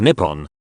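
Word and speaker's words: 日本: meaning is the base of the Sun Japanese pronunciation is Nippon on the Han but people had pronounced the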